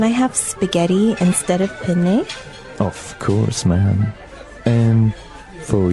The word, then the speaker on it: penne: All right, so how do you pronounce we said penne in in English in American English, but in proper Italian it would be penne. Penne. So you you you double pronounce the consonant.